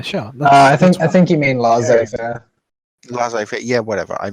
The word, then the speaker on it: laissez-faire: This, in a sense, this is like market regulationism is inherently anti laissez-faire capitalism. Yeah. Right. Yeah. Sure. I think you mean laissez-faire. Laissez-faire. Yeah. Whatever. I mispronounced it.